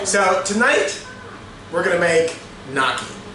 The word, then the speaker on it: gnocchi: So tonight we're gonna make gnocchi. It's actually pronounced a little bit different, you know, if you have an Italian accent or you're not from Pittsburgh, but it's gnocchi.